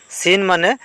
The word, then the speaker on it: সুনামি: silent বর্ণ পিছ সুনামি সুনামি মানে সুনামি হয় ইয়াতে টি উচ্চারণ হওয়া নাই এই কারণে টি হইছে সাইলেন্ট বর্ণ ওয়াক ওয়াক মানে খোঁজ